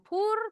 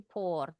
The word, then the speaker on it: pour: Bacanya pour. Betul tadi baby bacanya bukan pour tapi por.